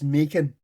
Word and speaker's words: Maelchon: Maelchon, we're not starting this. The last... Macon. Just call it Macon. We figured it out. It's Macon. It's Macon. Macon, right, okay, Macon.